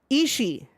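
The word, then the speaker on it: Ishii: is not isi e you do not pronounce that second I it's just isi um and as G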